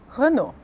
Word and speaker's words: Renault: Então, as palavras são, e a pronúncia correta é Carrefour, Paco Rabanne, Jean-Paul Gaultier, Lacoste, Lancôme, Chanel Eau Tendre, Citroën, Peugeot, Renault.